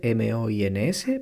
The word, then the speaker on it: moins: Se escribe M-O-I-N-S, pero se pronuncia moins.